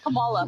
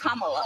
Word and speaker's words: Kamala: how to say her name earlier you said Kamala the way she pronounces her name is Kamala you don't with see that car we have